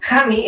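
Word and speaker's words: 紙: research and discovered that in Japanese Hair and paper are pronounced the same way 'Kami' Kamí is hair and Kámi is paper (I put accents so that you understand where the stressed syllable goes) They basically sound the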